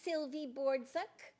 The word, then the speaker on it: Sylvie Bordzuk: And then we have this lovely Sylvie Bordzuk.